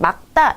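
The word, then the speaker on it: 맑다: 기본적으로 리을 기억은 닭 생각하시면 돼요. 막이거든요. 그래서 기억 다음에 그드브스즈 나오면은 된소리 규칙 막다 요렇게 하는 게 맞습니다.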